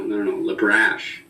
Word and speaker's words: LeBrash: It's a simple name. It's spelled like it sounds, but you would have no idea how many people go LeBrash? No, LeBrash. Exactly.